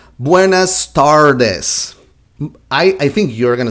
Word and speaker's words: tardes: Buenas Tardes if you if you notice that the R for for Spanish sounds different than the R in English TAR, TAR, TARDES, it's different but don't worry about that